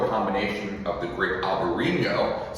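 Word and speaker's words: Albariño: combination of the grape Albarino, spelled Albarino and Enye if we were in Spain, but in Portugal it's spelled a little bit different.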